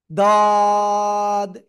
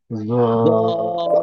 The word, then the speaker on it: ضاد: আবার অনেকেই আরেকটা বলে, সেটাও দেখাচ্ছি, এরকম বলে দাদ, এটাও বলা যাবে না। বলতে হবে কোনটা? জিহ্বার গোড়া উপরে মাড়ির সাথে লেগে রয়েছে ওই অবস্থায় জাস্ট ছেড়ে দিয়েই 3 আলিফটা নিয়ে উচ্চারণ করতে হবে।